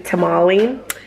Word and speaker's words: tamale: Because some say, I say tamal in Spanish, but some people say tamale.